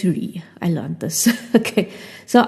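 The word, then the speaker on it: Rhy: So Ree's name is spelled R-H-Y, right? So I think this was the first time I saw that name. And I always used to pronounce it as Rai, but it's Ree.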